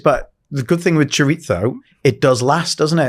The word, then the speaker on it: chorizo: I always get told off because I say it wrong. I say chorizo. Chorizo. It's chorizo.